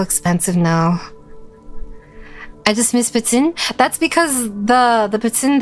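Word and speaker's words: poutine: it's not Pon now technically it's pronounced ptin but everyone says patin like that's technically how you're supposed to do it it's kind of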